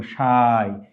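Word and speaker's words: شاي: এখানে শিনের সাথে একটা আলিফ আছে, তারপর একটা ইয়া, এখানে আমরা উচ্চারণ এভাবে করবো, শাই।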